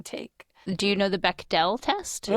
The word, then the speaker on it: Bechdel: Do you know the Beckell test? Be E is spelled weird. Be e C H. Beck D E L.